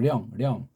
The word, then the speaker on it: 령: 쪽발이들이 세계주의자들이 우리 배달결의 문자를 없애버리고 우리 한문 발음을 이걸 때 영을 했어요. 아니에요. 령이라고 해야 되면 령. 령 그러지 영 그럽니까?